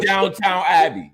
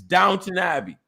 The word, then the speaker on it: Downton Abbey: abbey like y'all okay it's not downtown abbey it's downton abbey no you don't you